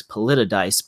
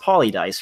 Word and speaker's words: PoliDice: dice or I used to think it was politicized but you know thinking back that actually was pretty a stupid thing to think about but it's apparently it's pretty it's pronounced Polly dice right so it's like Paulo dice so like